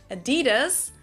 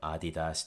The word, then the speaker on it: Adidas: The main difference here, of course, is the stress moving from the first syllable to the second, from Adidas to Adidas. You'll notice that when we move that stress in English, applying the English rules of vowel reduction, the two A's become pronounced as schwas, so it becomes Adidas.